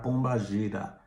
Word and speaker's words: Pombagira: Inclusive, antigamente era mais conhecida como Bombogira. Só que com o candomblé começou a cultuar essa entidade também, e eu acho que por algum erro de pronúncia e tudo mais, acabou se ficando conhecida como Pombogira, ok? Mas o mais conhecida, e não é errado falar Pombagira, não é errado falar Pombagira, é o mais correto, tá?